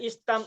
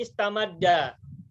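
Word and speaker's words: استمدّ: Jadi enggak boleh istam ada tapi istamadda.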